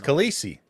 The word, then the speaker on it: Khaleesi: It's Khaleesi.